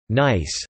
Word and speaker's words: NYSS: The mnemonic NYSS, pronounced nice, for New Year, sundial slow, can be useful.